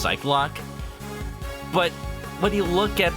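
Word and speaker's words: Psyche-Lock: attorney fandom has pretty much concluded that it's pronounced psych lock but when you look at the games and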